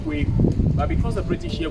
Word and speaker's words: Kweku: Now, this black man is called Philip Kwaku. The real name is pronounced Kweku, but because the British here could not pronounce Kweku, they did call him Kwaku.